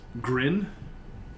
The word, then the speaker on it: Grin: Grin, just like the word grin.